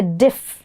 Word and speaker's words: diffident: So the moment you get here, diff, yeah? But then the I has a sound.